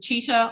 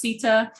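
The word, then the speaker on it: Citta: So I've worked with Cheetah, often mispronounced Sita.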